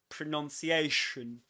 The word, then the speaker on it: pronunciation: Shun. Look at my lips at the end. Shun. It's not shun, but shun. And look at my teeth. I barely open them.